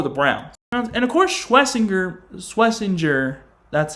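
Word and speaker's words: Schwesinger: And, of course, Schlesinger, that's how you say it.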